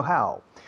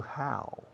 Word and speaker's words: how: Sin embargo, all my life, I'm trying to change Spanish students from saying ho to how. It's how. now, brown, cow, wow, how, powwow.